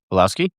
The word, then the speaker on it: Bielawski: special guest on the show today of Mike Bielawski.